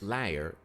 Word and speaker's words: leier: Liar is a slang form of the word leider, which means sufferer, and can be used as an liar. That sounds like the word we use for liar, that you lying.